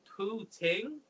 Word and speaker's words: poutine: It's pronounced poutine, which is fries. Am I right, or did I say it wrong? Poutine. Oh, you said it with like poo. Well, you can say poutine.